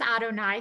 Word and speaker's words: Adonai: And now, very often when you have Yud He Vav He, those Hebrew letters that are spelled out, we pronounce them as Adonai.